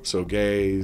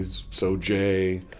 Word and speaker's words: Sauget: a slightly different answer I've heard so gay soj soet you know all different kinds of Renditions it's being fr it's